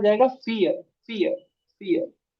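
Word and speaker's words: vier: आई इ आर आर बट आई के बाद इ आ जाए तो इ का ही साउंड हो जाता है। समझ आई के बाद इ आ जाए तो इ का ही साउंड हो जाता है। और जो वी है ये हमारा फऊ हो जाता है। फऊ एफ का साउंड देता है।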